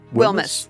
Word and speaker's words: Wilmes: Um but this is Beth and your last name is pronounced Wil. Wilmis. Y this is Beth Wilmis.